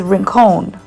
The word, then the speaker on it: Rincon: am saying it correctly i actually had to message rebecca the owner of everly nails and ask her to help me with the pronunciation because i was saying it completely wrong um so yes it is rincon yay i hope i said that right anyway so it is